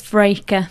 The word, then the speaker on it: Vreeke: It's Vreeke.